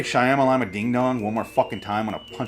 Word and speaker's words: Shyamalan: and night the sups stop pronouncing his name as Shamma Lamma ding-dongs getting old really old Shyamalan it's not that hard